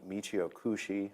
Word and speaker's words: Michio Kushi: actually was invented by the Michio Kushi I believe is the way you say his name so um I I